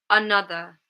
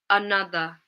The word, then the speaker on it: another: There's 3 syllables in this word and it contains 2 schwa sounds. So 2 out of 3 of the syllables have a schwa.